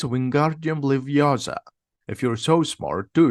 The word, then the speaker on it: Wingardium Leviosa: Wingardium Leviosa, says Ron. The feather doesn't move. You're saying it wrong, says Hermione. It's Wingardium Leviosa.